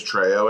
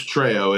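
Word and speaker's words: Trejo: his character's name is Treo in this okay I thought it was Tre okay no it's it's treyo it's spelled just like his last name so and I know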